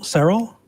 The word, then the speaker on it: Cyril: So I want to talk to, is it Cyril? Yes, you pronounced it right the first time.